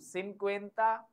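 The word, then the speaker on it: cincuenta: 50 एंड टू ट 50 एंड टू 502 सिन क्वता E those 52 same pattern 53 सी आई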